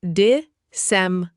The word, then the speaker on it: disseminate: disseminate Pronounced dis-sem-a-nate.